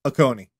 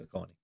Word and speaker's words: Oconee: Oconee. Because there's a diner by that name on Long Island, and we pronounce it Oconee. It's Oconee.